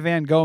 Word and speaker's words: Van Gogh: then we're going to Amsterdam to see the van Gogh Museum and that's it it's pronounced Van Gogh Van Gogh Museum Bangkok Museum